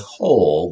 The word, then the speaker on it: whole: But I think it's better to think of it as whole with a silent W on the front.